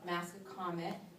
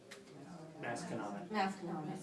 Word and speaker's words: Masconomet: 7, Northborough, Westborough, I'm gonna pronounce wrong, Massacomet, Masconomet, okay.